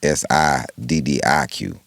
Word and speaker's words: Siddiq: My name is Siddiq. His name is Saadiq. Right. It's actually pronounced different.